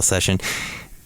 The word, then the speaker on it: Seshen: And they're spelled, it's not Session. I think that's how you spell session. They spell it Seshen. Session.